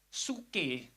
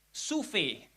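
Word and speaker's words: ζωή: Pertama saya pikir suke, ternyata bukan. Suve, ya, bacanya suve.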